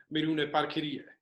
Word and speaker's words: Miruna Parchirie: Please welcome Miruna Parchirie.